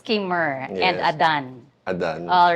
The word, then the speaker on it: Khymer: of the public, how is your first name pronounced? Ke. It's Kurr and Adan. Adan. All right. It's not Kimer.